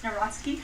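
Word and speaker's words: Nawrocki: He met with Carol Nari, if I'm pronouncing that correctly. Yes, Naraski.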